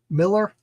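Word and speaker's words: Millar: more Mark M Mark Miller it's so hard for me to say Mark Miller when it's spelled with an a I really really like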